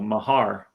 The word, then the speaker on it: Mahar: Demos says he pronounced it with the emphasis on the second syllable, Mahar.